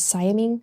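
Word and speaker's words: siamang: So a really common gibbon that you might see in other facilities is Siaming. Yes. Siaming, I think I said it right. Siaming, yeah.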